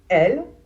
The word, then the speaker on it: elle: Elle pour la prononciation. On prononce le premier e les deux L comme s'il n'y en avait qu'un seul la plupart du temps.